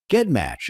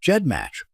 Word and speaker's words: GEDmatch: Earlier, I mispronounced GEDcom and GEDmatch. Both should be pronounced with a soft J sound, and I appreciate your understanding.